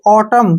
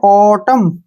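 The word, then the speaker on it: autumn: करना है इसमें भी एम एन इकट्ठे आ गए तो एन का उच्चारण नहीं करेंगे इसमें भी एम एन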